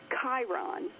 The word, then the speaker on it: Chiron: Like, for example, I heard about Chiron, and I'd never heard that word before in my life. I knew it was spelled with the CH. I knew it was pronounced with the K, and I knew it